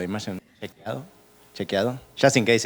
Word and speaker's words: Chequeado: Yes, it's difficult to pronounce. It's Chequeado. Imagine Chequeado.